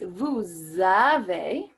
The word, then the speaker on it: vous avez: Same thing with vous avez. The S is pronounced because of the following vowel, A.